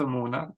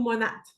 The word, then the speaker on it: Monat: Fait que grosso modo, c'est quoi ce Mona? Mona. Mona ou monate, les deux se disent.